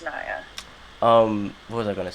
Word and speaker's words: Niia: Some people say Nia, but Yeah. it's Niia. It's Niia.